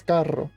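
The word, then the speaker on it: carro: to each other that's when you roll your RS which there aren't very many words but there are some like car in Spanish is Caro which there are two r c r r c a r r o is car per those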